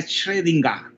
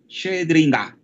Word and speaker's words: Schrödinger: Fíjense Schrödinger, que se pronuncia Schrödinger, ¿verdad? Schrödinger. Entonces esa O en realidad se pronuncia como una E, pero ustedes abren la